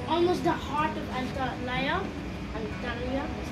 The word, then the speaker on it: Antalya: You can see like almost the heart of Antalya, that's how you pronounce it.